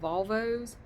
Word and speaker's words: Volvo: I'm going to do a video reading about Volvos it's pronounced Volvo here I know some people pronounce